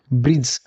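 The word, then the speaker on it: bridge: ब्रिज ब्रिज में डी और ई silent रहा है।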